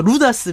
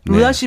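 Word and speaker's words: Rudas: 저는 고민하다가 루다스 베스를 갔어요. 루다시 베스. 발음이 그렇군요.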